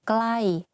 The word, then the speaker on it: ใกล้: For example, the word ไกล or ใกล้ the pronunciation is the same but the intonation are different.